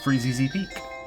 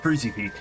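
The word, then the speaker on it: Freezeezy Peak: Uh, Freezy Z Peak. I also completely butchered that as a kid. Just called it Freezy Peak.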